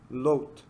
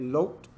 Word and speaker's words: Lot: Lot is actually how you say it. Lot.